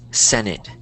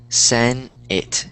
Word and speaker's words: Senate: This word is pronounced Senate. Senate. There you go, Senate. Think of it like Sen-it. So like S-E-N and then I-T. That's how you would pronounce it, Senate.